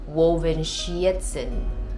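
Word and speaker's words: Wolfenschiessen: But it's actually pronounced Wolfenschietzen, I think.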